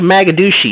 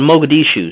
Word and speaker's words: Mogadishu: ops wait wait hold on hold on what's maguchi it's called Mogadishu so I know you haven't been there because you can't spell it right so you up here okay I